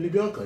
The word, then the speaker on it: Libianca: I loved the Libianca's voice. Is that how you say her name? Libianca, yeah.